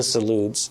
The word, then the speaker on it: Zalud: Before I interrupted the family, the Zaluds, is that how you say it?